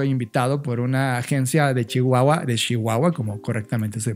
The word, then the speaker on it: Chihuahua: Ya habíamos platicado un poco de Rubén cuando justamente estaba yo invitado por una agencia de Chihuahua, como correctamente se pronuncia.